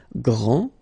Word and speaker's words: grand: This final D is not pronounced. Okay, so grand, and then the feminine form, grande.